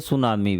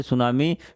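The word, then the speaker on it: tsunami: हैं उसको बोलते हैं सुनामी भी क्या बोलते हैं सुनामी टी इसमें साइलेंट होता है टी एस यू एन ए एम आई सुनामी the smallest continent सबसे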